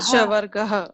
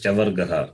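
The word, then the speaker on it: चवर्गः: Shavargaha. It is Chavargaha, not C-A-K, Kavarga. Kavarga already gone. So this is Chavargaha.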